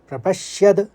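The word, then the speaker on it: प्रपश्यद्भिः: श्यद, शौ के संग यो है तो श्यद, प्रपश्यद, फिर भिर, आप देखिए, फिर उसके बाद भिर निकालेंगे, फिर जनार्दन कहेंगे।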